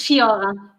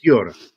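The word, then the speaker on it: Sciorra: It's Fiora because it doesn't have an H. Fiora.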